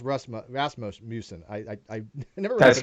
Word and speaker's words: Rasmussen: and I hope it's pronounced Rasmussen.